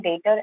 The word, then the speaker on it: debtor: ये बहुत commonly आता है और बहुत लोग इसका pronunciation वगैरह भी proper नहीं कर पाते हैं, specifically if you are from the non-commerce background, तो हम इनको debtor बोलते हैं।